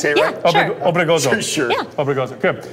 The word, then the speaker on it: Obregozo: Obregozo. Sure. Yeah. Obregozo. Good. I like how you rolled the R.